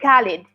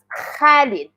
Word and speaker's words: Khalid: especially for English speakers, it's not ka. So, when you see something like that, that's not like that's a name. That's not like Khalid. That's Khalid. Khalid. So, it's uh a little bit seem as like ha, but have a vibration.